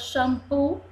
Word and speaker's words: xampu: s ó e aqui eu sou x com som de ch shampoo Xerife vamos soletrar palavras xampu xampu sílabas Chery fé